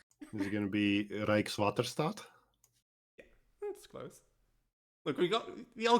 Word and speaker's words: Rijkswaterstaat: The first part is like Rijks. Okay. Rijkswaterstaat.